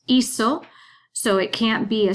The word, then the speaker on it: hizo: And then hacer is a double irregular because that third person, él, ella, usted, and it, goes to that Z, pronounced hizo.